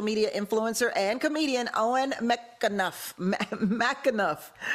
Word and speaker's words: McAnuff: influencer and comedian Owen McAnuff. I got you right, Owen? Yeah, you got it. McAnuff.